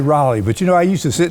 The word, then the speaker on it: Raleigh: Some folks say Raleigh. Some say Raleigh. How do you pronounce it, Ogie?